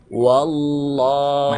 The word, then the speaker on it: والله: Coba gini, pertimbangannya huruf waw berharokat fathah dibaca apa? Wa kan? Nah, bahkan dibacanya wa kalau berbaris fathah. Jadi wa-nya dijelaskan, kemudian ditasydidkan huruf waw ke huruf ke lafaz Allah. Kan gini. Wallah, bukan wallah, tapi wallah.